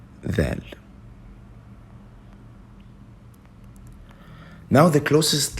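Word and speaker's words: ذال: For this letter, it's similar to the sound of TH in the.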